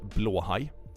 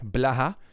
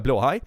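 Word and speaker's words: Blåhaj: piece it's actually pronounced BL High which means blue shark BL is blue and high is shark weirdly enough so so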